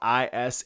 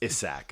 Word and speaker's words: Issac: Because Isaac's usually spelled Isaac. This is spelled Issac. So it's Issac. It's not Isaac. Issac.